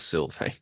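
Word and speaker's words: Sylvaine: yeah uh Silve and I did double check that pronunciation it is Silve s y LV a i n e but you'll find it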